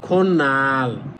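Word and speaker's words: 꽃날: হবে কি খোদ নাল কিন্তু একসাথে বলবেন তখন হবে খন্নাল তহলে সেম একইভাবে হবে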